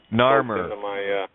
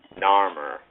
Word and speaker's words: Narmer: how do you pronounce that again, just so I get it? Narmer. Narmer.